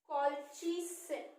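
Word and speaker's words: colchicine: कॉल्चिसिन, कॉल्चिसिन spelling, एक minute इसको हम सही करते हैं, इट इज कॉल्चिसिन।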